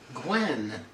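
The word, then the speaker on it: Gwynne: and you guys i always forget how to pronounce his last name gwen gwen sorry when it's just it's it's i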